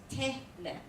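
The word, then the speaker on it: תלם: But put the accent on the Telem. ta. So it's it's tehlem. Telem.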